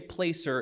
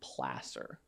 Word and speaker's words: placer: placer mines don't say placer it's pronounced placer it's from the spanish word for for a riverbank or a stream bed and this is where